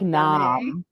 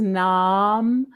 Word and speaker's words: Name: whose name was n-a-m-e but pronounced um like nom it was like like vietnam no well i guess it was like vietnam i don't know in my vernacular it was nom as opposed to nam right but oh i